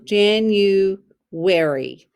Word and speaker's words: January: jan u long u jan u wary it sounds like a r y sounds